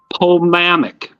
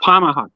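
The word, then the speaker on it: Pomahač: July 27 2019 with Dr bodan homamic p-o-m-a-h-a-c I hope I halfway pronounce that right oh pamaha thank you a plastic surgeon and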